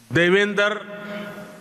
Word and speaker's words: Devendra: Their name, Devendra, rhymes with my own name, Narendra.